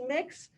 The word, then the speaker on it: Mx: fluid um and mix mx here pronounce mix um is the alternative